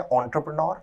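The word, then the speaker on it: entrepreneur: द एंटरप्रेन्योर, विद्यार्थी शब्द के प्रोनाउंसिएशन या उच्चारण पर ध्यान दें, उच्चारण है एंटरप्रेन्योर, अर्थ है उद्यमी, ऐसा व्यक्ति जो रिस्क उठाता है और व्यापार में निवेश करता है, हिंदी में उद्यमी, इंग्लिश में एंटरप्रेन्योर।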